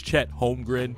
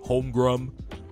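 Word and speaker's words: Chet Holmgren: spectacular and godamn it Reggie Miller can you pronounce players names right it's Chad homr not hrum hrum really you've been announcing games for 20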